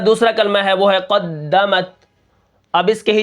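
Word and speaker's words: قدّمت: سب سے پہلے کیا ہے، قاف دال زبر قد، دال زبر دا، قد، میم تا زبر مت، قدمت۔ اب یہاں پر دیکھیں قاف دال، تشدید جو ہوتی ہے پیچھے والے حرف کے ساتھ مل کر پڑھی جاتی ہے، لیکن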